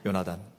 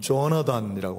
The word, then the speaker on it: 요나단: 죽음의 경계를 뚫고 생명의 경계로 나아갔던 인물 요나단. 영어로는 조나단이라고 하는데 원래 원 발음은 요나단이 더 맞습니다.